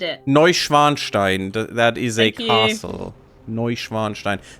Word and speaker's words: Neuschwanstein: Neuschwanstein. That is a castle. Neuschwanstein. That no English speaker can ever pronounce.